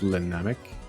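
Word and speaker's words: Le Namek: I like how everybody pronounces his name Lenamek, even though it's French, and then it's a reference to Dragon Ball Z, so it's a Namek. So it's Lenamek.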